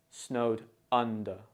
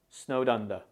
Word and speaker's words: snowed under: when pronouncing snowed under pay attention to the stress on the word under it's stressed on the first syllable or sound so you should say snowed under the D in snowed